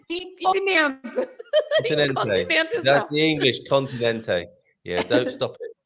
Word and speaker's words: continente: Sim, penultima sílaba. But Continente.